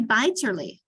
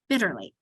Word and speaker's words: bitterly: So hence we divide between the two T's to remind your kids that the first I is short. Because so that's what makes your first syllable bit, and then ter, and then lee, but we put it together and it's bitterly. We only say the T